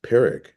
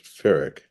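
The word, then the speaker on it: Pyrrhic: Uh, I totally mispronounced pirick for my whole life. I thought it was furic.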